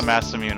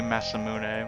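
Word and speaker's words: Masamune: imune I call the mass immune also yeah but I guess the the actual Japanese pronunciation would massamun it should be massamun but I I'm going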